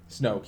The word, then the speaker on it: Snoke: Snoke. Snoke, yeah.